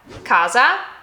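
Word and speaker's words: casa: When you have a double letter, our first trick is to hold the consonant slightly longer. Just hold it a little longer. Okay. So here we have kaza and kasa. Kaza kasa. I'm just holding it a little bit longer. And two totally separate words.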